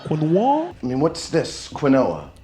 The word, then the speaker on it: quinoa: The word quinoa comes from an indigenous language from South America.